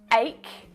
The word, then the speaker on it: ache: like in chocolate but in the word ache it's pronounced like a k again this is why